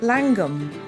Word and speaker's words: Llangwm: the culture and where the Welsh spelling is inconsistent with spoken version of the name slum is pronounced langum by those who live